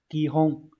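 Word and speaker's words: 基本: Như vậy cơ bản sẽ đọc là kihon.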